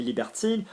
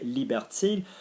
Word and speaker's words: libertine: Notice the pronunciation of libertine because there's an E on the end. So can I remind you, I-N, unless followed by a vowel, is un. I-double-N with a vowel, same thing, in.